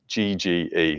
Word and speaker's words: Yegge: He's published, there's a guy called Steve, I think I actually don't know how to pronounce his last name. It's Yegge.